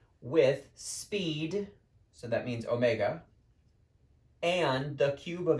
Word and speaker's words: omega: minute that would be a Greek letter called Omega even though I'm not there with you in the room I want you to pronounce that out loud Omega this is not